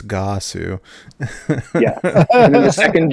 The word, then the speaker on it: Ggahsoo: It's not Ggahsoo. It's Ggahsoo.